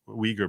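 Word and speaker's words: Uyghur: intering cans with indigenous weager people that is pronounced weager in case you're wondering yet very quickly Focus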